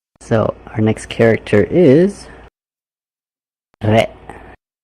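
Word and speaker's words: れ: Re. So we're combining with the E sound, which in Japanese is pronounced e, so it goes and becomes re.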